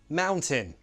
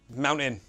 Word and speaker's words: mountain: And sometimes I will pronounce the glottal T, sometimes I won't in these words. Sometimes mountain, sometimes mountain.